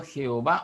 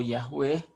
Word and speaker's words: Yahweh: Ese es el significado del vocablo Jehová o Yahweh, como algunos creen que es la pronunciación más correcta de este nombre de Dios, que significa yo soy el que soy, ¿verdad?